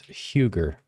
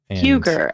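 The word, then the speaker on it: hygge: channel but it's um it's spelled h y g g and and I think it's pronounced you'll probably laugh at me for uh totally butchering it but it's Huger Huger okay it's the Danish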